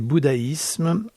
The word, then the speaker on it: bouddhisme: et en rappelant que le bouddhisme avec 2D religion devrait se prononcer bouddhaïsme et ses sectateurs bouddhaïstes